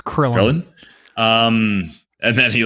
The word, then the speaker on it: Krillin: Rhymes with Thrillin'. It's Krillin.